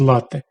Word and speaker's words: лате: Натовпи туристів, які смакують лАте такий правильний наголос у назві цього напо́ю що готується з гарячого збитого молока і кави паста, піца та піцЕрія